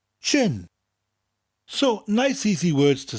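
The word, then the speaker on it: jin: third one is gin you say it the same way is in English but it's per differently Jay I n chin so nice easy words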